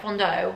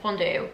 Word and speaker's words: fondue: date night activity am I saying it right Fondo fondue like a chocolate fountain I think I saw